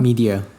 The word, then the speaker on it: Midea: they're partnering with like home appliance giants such as how do you pronounce this in English? Midea? Media.